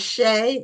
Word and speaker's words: Shea: So, uh I don't know which one is Emily and which one um is Shay. Is that how it's pronounced? It is. I'm Shay and this is Emily.